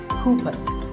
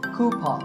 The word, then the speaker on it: coupon: of these a coupon a common incorrect pronunciation is cumin but the second syllable to beat pause so koopa hears word number 16